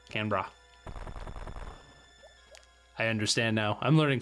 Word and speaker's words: Canberra: think anyone likes Canberra did I can Barrow Canberra now you gotta be wondering about how to pronounce Australian cities thanks Aaden jeez I probably pronounced that wrong I'm sorry Australian Capital Territory I was gonna ask can bra can bra okay Canberra I understand now I'm